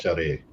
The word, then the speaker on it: Charest: So pretty sure it's pronounced Charest.